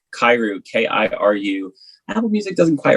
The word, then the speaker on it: Kiru: the garden um literally you can look like kairu k-i-r-u apple music doesn't quite respect my name